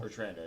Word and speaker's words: Bertrando: Am I saying it right? Bertrando? Bertrando, yep. Okay, Bertrando.